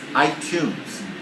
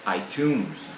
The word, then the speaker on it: iTunes: the classic example was iTunes iTunes right the music audio Provider from Apple the store iTunes Store the the the student said itun itun it's not tons it's iTunes so you have and